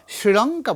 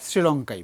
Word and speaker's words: শ্রীলঙ্কা: অনেকে স্টাইল করে বলতে শ্রীলঙ্কা বলে। শ্রীলঙ্কা শ্রীলঙ্কা। আমরা শ্রীলঙ্কাই বলব।